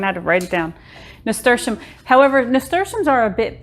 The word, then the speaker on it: nasturtium: It took me a long time to figure out how to pronounce this correctly. I even had to write it down. Nasturtium.